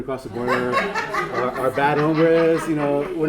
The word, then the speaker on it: hombres: And maybe if you look at the social fabric, maybe just think about fabric and just think of good hombres, the H is silent, so maybe someone has to let Trump know that the H is silent.